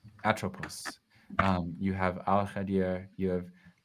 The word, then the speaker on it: Atropos: How is it pronounced? One more time. Atropos. Atropos.